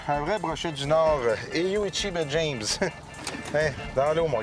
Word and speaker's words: Eeyou Istchee: Merci de nous accueillir dans ce magnifique coin de pays, Eyu Ichi de Bay James. Maintenant, c'est comme ça que ça se prononce, hein? Oui, c'est comme ça, Eyu Ichi Bay James.